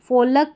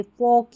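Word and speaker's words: folk: देखिए ओ एल के है ना इसको फोलक या योलक नहीं पढ़ते। फोक या योक पढ़ते हैं।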